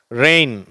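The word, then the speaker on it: reign: விலை வீதம் ரேய் ஒளிக்கதிர் ரெயின் அரசாளுதல் இதையும் ரெயின் அப்படின்னு தான் சொல்லணும் மழையையும் ரெயின் தான் சொல்லணும் ரெண்டும் ஒரே உச்சரிப்பு தான் சேஃப் பாதுகாப்பான செயின்ட் துறவி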